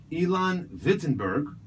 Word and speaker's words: Ilan Vitemberg: just visiting from San Francisco originally from Israel Elon vitberg did I pronounce that correctly you did very very well